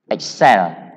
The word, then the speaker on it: excel: Excel. The stress is on the last syllable.